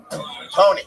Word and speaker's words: Toni: Tony. You read Tony wrong? But look, that it looks connected. No, Toni. It's Tony. Tony.